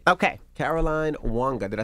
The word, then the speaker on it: Caroline Wanga: coming i'll see you there all right okay caroline wanga did i say it right you did all